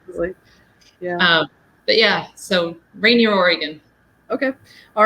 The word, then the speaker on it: Rainier: Rainier, Oregon? Well, it rains here enough that we joke that it should be pronounced rainier, but Rainier, like the mountain in Washington State, although we are on the Oregon side of the river.